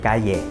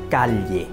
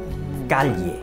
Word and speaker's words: calle: gốc á, họ đọc rất là công phu, calle, calle, calle. Nhưng mà qua tới Mễ đó, họ đơn giản hóa đi, họ kêu calle.